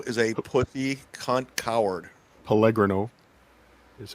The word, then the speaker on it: Pellegrino: Pellegrino is how it's pronounced.